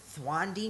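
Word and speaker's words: Thandiwe: newton okay i think i think it's pronounced thwandi now she like changed it to her actual name or something um yeah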